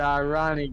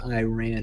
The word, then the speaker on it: Iran: you know okay the Irani government one of the eyes in the Middle East denies the hust I mean it's not even pronounced Iran it's Iran there's Jews that denounce there's